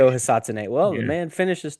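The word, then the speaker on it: Ryo Hisatsune: Rio Hisatsune. Listen, TA. Hey, that was really good there, by the Yeah. way. You've been TA. working on that? Thank That was you. Beautiful pronunciation. Rio Hisatsune.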